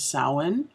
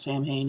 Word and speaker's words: Samhain: of us who are pagan that's known as saawan SI m h AI n it looks like Samhain it's not Samhain its own there's some variations on that pronunciation